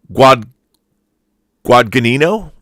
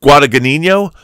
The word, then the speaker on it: Guadagnino: The director of Suspiria remake is Luca, and I have to look at his name to pronounce it correctly. Yeah, Luca Guadagnino. He did challenge us. It's either Guadagnino, Luca Guadagnino.